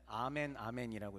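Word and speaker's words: ἀμὴν ἀμήν: 어떻게 읽냐면은 아멘 아멘이라고 읽으시면 됩니다. 저게 아멘 아멘이에요.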